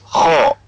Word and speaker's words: خاء: Lanjut ke huruf berikutnya, itu huruf kho. Makhraj huruf kho adalah tenggorokan bagian atas.